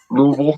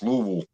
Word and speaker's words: Louisville: You could put Oh, you have to say it like you got a w in your mouth. Louisville.